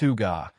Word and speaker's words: hygge: This small country has cracked the code on life satisfaction through something they call huga, pronounced huga, which roughly means cozy contentment.